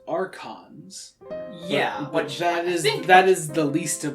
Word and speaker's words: archons: see you guys in a second so it's pronounced archons that is the least of my worries right